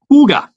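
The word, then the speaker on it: hygge: all kids involved and I I always pronounce it Hig I thought it was Hig how did you say that Huga oh man I know it's Danish uh Huga it means like a good times good good feel kind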